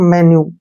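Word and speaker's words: menu: पर सामने आपके रख दिया जाता है एक मेन्यू ठीक है ना मेन्यू तो इसको वही पढ़ते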